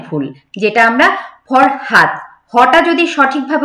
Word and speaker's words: ফরহাদ: দেখবেন আঞ্চলিকতার মধ্যে যেমন কি আছে, ফরাত নাম কিন্তু আমরা ফরহাদ জানি, ফরহাদ, সেটাকে গ্রামে গঞ্জে সেটাকে আমরা কি বলি, ফরাত।